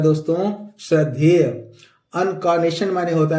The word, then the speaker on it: incarnation: और इसी तरह अगला वर्ड है दोस्तों INCARNATION, अनकॉनेशन। इसमें आर साइलेंट होता है दोस्तों, इसको इन नहीं पढ़ेंगे। अनकॉनेशन, अनकॉनेशन। क्या पढ़ेंगे दोस्तों? अनकॉनेशन। इनक्रानेशन नहीं पढ़ेंगे, अनकॉनेशन। सही प्रोनाउंसिएशन इसका है दोस्तों अनकॉनेशन।